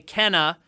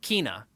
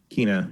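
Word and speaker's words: Kena: then next up from the state of play kenna actually we now know it's called you pronounce it kina kina yeah bridge of spirits um i learned through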